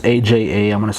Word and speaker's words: Aja: be hard to pronounce andre aha it's aja i'm going to say